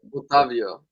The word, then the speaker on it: Otávio: Make sure you guys are smashing the likes, and we're gonna move on to Otavio, or how do you pronounce it? So I say it right. Otavio, that's right.